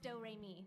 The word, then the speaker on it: Doremi: It's spelled like notes and pronounced Doremi.